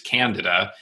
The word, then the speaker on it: candida: Well, Warren Levin years ago was an expert in this realm, and I did an article with him, and he said the correct pronunciation is candida.